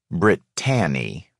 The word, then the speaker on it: Brittany: gathered i first met Britt Tanny as she always teasingly insisted we pronounce it at one of the